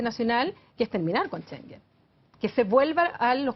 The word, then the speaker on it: Schengen: Algunos, ¿Schengen se pronuncia? Schengen, Ya.